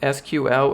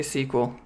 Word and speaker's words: SQL: a lot of stuff do I pronounce it SQL or sequel I say sequel and I worked with